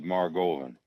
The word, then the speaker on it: Margolin: Boston steady rolling Bob Maran steady Roland rhymes with Mar Goan and he and steady